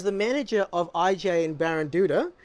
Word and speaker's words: Baranduda: Brett who is the manager of JJ and baron Duda correct how do I get the pronunciation you got the right oh excellent H